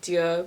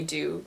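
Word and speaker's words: Dieux: that said that like the friendch pronunciation is like du but they just say do because it's an American brand I have the air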